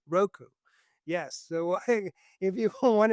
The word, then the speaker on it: Roku: Is that how you pronounce it? Yeah. ROKU, Roku.